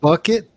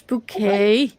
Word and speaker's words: bouquet: so stressful so stressful isn't it bucket no it's bouquet lynch pronunciation yes sure okay whatever you it's pronounced bouquet it